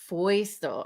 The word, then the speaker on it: Feustel: i'm all how do you how do you pronounce it properly foisto all right yeah no i totally would have